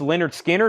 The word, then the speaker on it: Lynyrd Skynyrd: buy Thrill 36.99 The Who BBC Sessions 33.99 pronounced Leonard Skinner 38.99 John Wilson wants garbage that was my